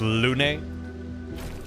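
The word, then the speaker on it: Lune: It's pronounced Lun.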